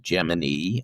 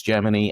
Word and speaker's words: Gemini: So within NASA, it's Gemini. Outside of NASA, it's Gemini. My OCD will be tingling if I try to say Gemini too much. And even reading the book, every time it came up, it was just like, no, Gemini, that's Gemini. Yeah, I can hear my English teacher now.